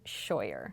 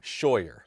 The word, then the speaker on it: Scheurer: Scheurer. Scheurer. Why is there an R in the middle of your last name? Those The R is silent? crazy Germans decided that there needed to be a few extra letters in there.